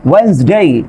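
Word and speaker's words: Wednesday: তারপর খেয়াল করেন ওয়েডনেসডে, ডি এর পরে আপনার এন আছে।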